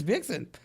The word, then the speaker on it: Bjergsen: Wait, what is the correct pronunciation? Bjergerson. Erickson. Bjergsen. I was that close. No, Jay. Bjergsen. It's Bjergsen.